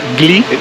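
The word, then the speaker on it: Wli: Esta es la cascada baja de Gli. Es un poco difícil de pronunciar porque es W-L-Y. Gli. Gli.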